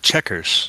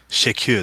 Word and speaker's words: Chequers: They call it Chequers, not Shakir. They don't pronounce it in French like I would.